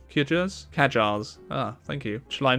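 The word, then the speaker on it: Qajar: the I'm sorry I don't know how to pronounce that quar kajar ah thank you shall I meet with the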